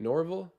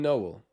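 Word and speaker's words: Nowell: Norville? He's going to the line to shoot too. Why did I think there was an R in his name? It's Noel? Jalen Noel. Noel.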